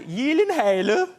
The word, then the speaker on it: Gyllenhaal: It is a Swedish name. So shouldn't it be like Gyllenhaal? Oh my God. I have to help you with it. It is actually Gyllenhaal. The only two places that is pronounced correctly, my last name, like you did just now, is in Sweden and in IKEA.